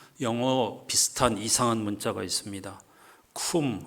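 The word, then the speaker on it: Cwm: 쿰 론다라고 읽는데 이 문자는 지금은 거의 사용하지 않고 있는 웨일스어입니다.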